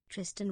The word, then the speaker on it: Tristan: Tristan rhymes with Twistin.